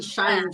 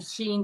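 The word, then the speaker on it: Shein: yeah I mean I I see Cheyenne Sheen yes Sheen yeah I get a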